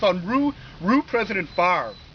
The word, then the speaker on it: Favre: And it's on Rue President Favre. Believe it or not, you know, like Brett Favre, the football player.